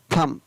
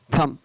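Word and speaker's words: thumb: तो rules number 20 है, शब्द के अंत में M और B हो तो वहाँ पर B का कई बार उच्चारण नहीं होता है। फॉर एग्जाम्पल TSUMB, तो यहाँ पर इसको क्या पढ़ेंगे, थम, TSU का थ और M का म, थम, B साइलेंट।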